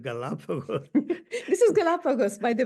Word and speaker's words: Galapagos: We went to this brewery, which, according to Japanese pronunciation, is known as Garapago rather than Galapagos.